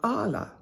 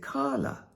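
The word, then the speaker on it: Qala: I live in Gozo is called Ala, or some people pronounce it Kala.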